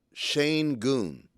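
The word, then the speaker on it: Şengün: First of all, you got to say it like Reggie Miller says it. Shane Goon.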